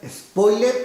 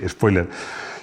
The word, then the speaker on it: spoiler: nos guste o no, se usa la acepción en inglés, con S líquida y sin acento. Pero si pronuncias spoiler con E. Y sin acento. Perdón, y con acento, sí, spoiler. Y es que somos así de chulos. Lo escribimos en inglés y lo pronunciamos a la española.